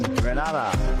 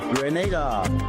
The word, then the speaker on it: Grenada: So, today, like we German say, we are in Granada. But I heard in English it's called Grenada.